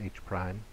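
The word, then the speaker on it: H′: H with an apostrophe behind it is pronounced H-prime.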